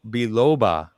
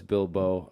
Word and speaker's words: biloba: pulling his hair out it's below biloba not uh it's that's the how you pronounce it cool awesome from a botanist so we've heard that that was bilbo uh bill lobot like bilbo baggins right right right maybe